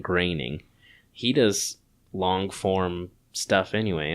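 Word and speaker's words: Groening: um reminds me uh I've heard it rhymes with complaining that's how I've remembered it so it's Matt graining he does long-form stuff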